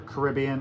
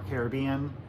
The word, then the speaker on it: Caribbean: I love mini is depending on how you say it it's either Caribbean or Caribbean see but this is